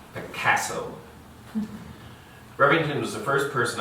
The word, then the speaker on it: Picasso: He pronounced the A like the A in cat, Picasso.